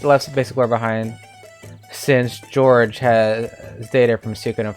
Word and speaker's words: Georg: By the way, his name was not George in Suikoden 2. It was Georg. Georg, not George.